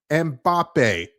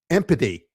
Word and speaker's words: Mbappé: Listen, I'm no I'm no uh expert when it comes to names, but it's pronounced Mbappé, not empathy.